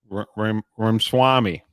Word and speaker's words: Ramaswamy: But that, just like Vivek Ramsey, Ramaswamy, whatever, I can't pronounce his name correct.